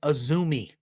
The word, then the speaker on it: AZM: it's spelled azm all in capital but it's pronounced aumi that is how it's pronounced um I don't